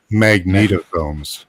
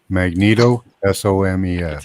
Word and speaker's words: magnetosomes: look this up swe magnetosomes so mag just like it sounds s o mes Magneto s o mes tell some more magnetosomes this is from AI let me read this for you Jeff magnetosomes are nanometer sized organel